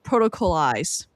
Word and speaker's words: Protocolized: his new sci-fi short story um on the protocolized Protocol.